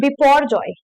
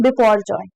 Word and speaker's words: Biparjoy: And pronounced as Biparjoy, तो इसको पढ़ेंगे कैसे? Biparjoy, ठीक है।